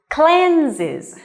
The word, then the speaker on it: cleanses: cleanses and remember okay here is a voiced consonant so you can feel the vibration in your throat when you pronounce okay it just say cheese and smile when you pronounce this sound okay cleanse ease cleanses her face okay so after